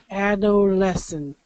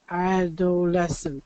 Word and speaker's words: adolescent: okay so adolesence adolesent adolescent four syllable yeah so four syllables adolesence L ad lessons okay good okay so what's interesting about this is you have the dark L and then it follows follows kind of a voice sound adolesence so instead of